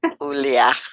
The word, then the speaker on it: Ioulia: because that's it's eah that's how you say Julia in Greek but by the way